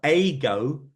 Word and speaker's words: Eigo: It's called AGO AI. AGO AI. Can you So spell that?